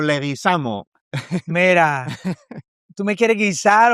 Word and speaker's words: Leguizamo: Yo yo lo digo gringo porque los profesores nunca podían escribir ni pronunciar mi nombre. Entonces yo le decía, "Okay, hágalo fonéticamente." Entonces yo decía, "Le wesamo."